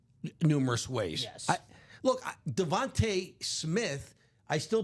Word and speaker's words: DeVonta: Look, Devontae Smith, I still, because it's spelled Devonta, but he pronounces it Devontae.